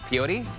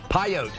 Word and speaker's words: Pyote: Peyote? Pyote.